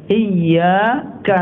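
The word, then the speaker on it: إِيَّاكَ: Itu bacaannya pakai tasdid kan Pak? Iyyaka na'budu wa iyyaka nasta'in.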